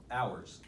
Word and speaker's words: hours: Hours. Hours. H is silent.